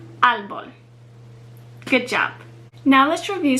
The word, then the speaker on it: árbol: So the accent mark over the A puts the emphasis on that syllable, árbol.